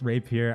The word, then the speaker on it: rapier: By the way, I know it's pronounced rapier. I'm so sorry. For some reason, I just like saying rapier, and I know melee